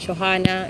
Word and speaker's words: Johanna: Este, tu nombre y tu apellido tienen H, pero no se pronuncian como suele no pronunciarse en español, pero en este caso como una J, ¿no?